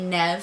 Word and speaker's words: Niamh: I'm like, my name's Niamh, but a lot of people call me Nev for short, like Neve Campbell, the actress. So from my understanding, most of Ireland pronounces it Niamh, and the northern part usually pronounces it with 2 syllables, Niamh, and typically I pronounce it Niamh.